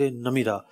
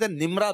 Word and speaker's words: نمرہ: تھا مسجد نمیرہ۔ اچھا، اس کو لوگ مسجد نمرہ بھی کہتے ہیں، تو ایکچوئل لفظ نمیرہ ہے۔ میں بڑی جو نا کوشش کے ساتھ تلفظ دیکھ کر آیا تھا، 2-3 کتابیں میں نے نکال لی اور جناب ان سے باقاعدہ تلفظ دیکھا، اعراب دیکھے۔ نمیرہ لفظ ہے، ایکچوئل نمیرہ ہے، نمیرہ ہے، میم کے نیچے زیر ہے۔ صحیح۔ تو بحر عمیق